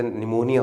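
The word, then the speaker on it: pneumonia: ऐसे वर्ड्स होते हैं, जैसे निमोनिया हो गया, पी इज साइलेंट, बहुत सारे ऐसे वर्ड्स होते हैं जिसमें कुछ ना कुछ साइलेंट होता है।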